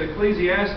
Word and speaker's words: Ecclesiastes: do you say that book and i said ecclesiastes and he said and he got up there